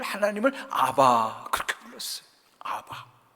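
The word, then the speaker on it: אבא: 아빠라는 뜻은 아람 원어로는 아바 그런 뜻이에요. 예수님은 늘 하나님을 아바 그렇게 불렀어요. 아바. 그니까 아바라는 정확한 표현이 사실은 아빠 그거예요.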